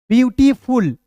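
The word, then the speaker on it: beautiful: ब्यूटी एफ यू एल को क्या पढ़ेंगे full ब्यूटीफुल पी ई ए यू टी आई एफ यू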